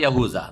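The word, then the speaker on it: يهوذا: বড় ছেলের নাম ছিল ইয়াহুদা বা ইয়াহুজা, জাল দাল কাছাকাছি উচ্চারণ।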